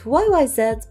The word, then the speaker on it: YYZ: check out today's song YY z i just pronounce it y YZ before but you guys said that I should pronounce it YY Z so thanks for letting me